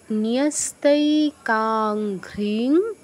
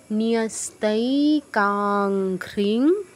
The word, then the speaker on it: ন্যস্তৈকাঙ্ঘ্রিং: উচ্চারণটা একটু দেখে খটমটে মনে হতে পারে, কিন্তু সহজ। কি আছে? নিয়স্তৈ, ন যুগ ইয়, কি হচ্ছে? নিয়, নিয়স্তৈ কাঙ্ঘ্রিং। এই যে অনুস্বারের উচ্চারণ যেমন বাংলায়, ইংরেজির উচ্চারণও তাই। কাং ঘ্রিং, কাং ঘ্রিং, ঘয়ের সাথে রফলাঘ্রা, এর সাথে ইকার ঘ্রি। আর অনুস্বারের উচ্চারণটা তো বাংলা